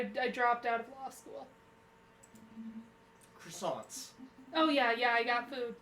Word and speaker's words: croissant: Croissants.